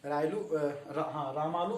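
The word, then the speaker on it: Ramulu: रायलू को, ठीक है, रामालू को बोलते हैं, इसको फुल नाम है इसका रामालू, कोई इसका गलत उच्चारण करते हैं।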